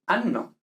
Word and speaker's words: anno: Por ejemplo, decir ano y decir anno, ¿vale? Son cosas distintas.